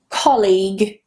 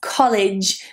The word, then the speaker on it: colleague: Colleague. colleague. This is not the same as college, which a lot of people pronounce it like.